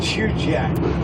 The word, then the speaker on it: Chugach: of mountains on the right side is the shoe jack mountains that's spelled c-h-u-g-a-c-h they uh decided against this bridge